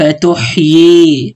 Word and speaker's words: تحيي: رب أرني كيف تحيي، بأجيب الياء الثانية، تمام؟ هي مش مرسومة لكن بأجيبها، بأنطقها فقط في الكلمة هذه، تمام؟